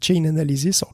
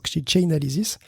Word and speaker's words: Chainalysis: Russie au passage effectivement comme un auditeur l'a remarqué je le prononcé mal je prononc chain analysis chainalysis merci de nous remonter